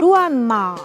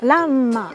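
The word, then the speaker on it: らんま: Ce qui est intéressant, c'est que Ranma, c'est des kanji. Mon père, qui lit parfaitement le chinois, lisait Ruanma. Mais en japonais, Ranma.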